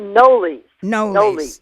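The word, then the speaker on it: Knollys: yes and her last name I heard it noli's Leticia noli's she she was a descendant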